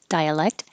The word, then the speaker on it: dialect: we need thorough dialect you don't have to say but your tongue does have to go to the k position dialect um you don't